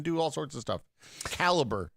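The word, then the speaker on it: Calibre: all sorts of stuff caliber is how you pronounce that software I didn't know that I thought it was Cali Cali no it's I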